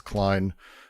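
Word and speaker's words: Cline: Um it's a it's not Melanie Klein pronounced. It's Klein uh Visuals Studio Code.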